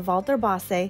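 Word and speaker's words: Walter Bosse: it is pronounced vas with almost a v sound at the beginning of Walter and I am so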